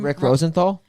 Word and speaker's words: Rosenthal: Rick Rosenthal.